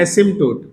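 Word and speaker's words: asymptote: तो इसको बोलते हैं एसिमटोट। क्या बोलते हैं? एसिम टोट।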